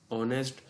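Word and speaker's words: honest: No days very few word begin with a silent H, द मोस्ट common are एयर, ऑनेस्ट।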